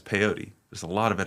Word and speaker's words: peyote: you pull up some piote how do you say it P peyote piote yeah P yo T um for people just